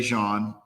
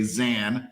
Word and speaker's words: Zan: Now, I make sure I say Jean because I think people shouldn't say Zan, even though you give everybody that pass here.